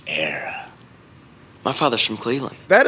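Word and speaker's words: Éire: The land of your fathers isn't Erie, boyo. It's Era.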